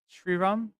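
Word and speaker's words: Sriram: I assume you're vityan origin how do you pronounce his name correctly shiram yes sir his name is shiram yeah yeah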